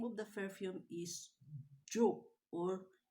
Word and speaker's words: Joop: of the perfume is jo or in german they pronounce the j in y so this is u okay this is eud